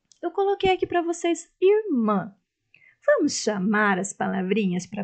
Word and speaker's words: irmã: E quando eu separo, eu entendo que a sílaba tônica dessa palavrinha é a última sílaba.